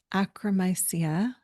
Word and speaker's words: Akkermansia: They're asking for thoughts on Akkermansia.